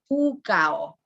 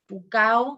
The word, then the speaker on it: Pukao: Ahu is the pronunciation. And the statues are called Moai, Moai. And the top knots are the Pukao. Pukao is the word for top knot.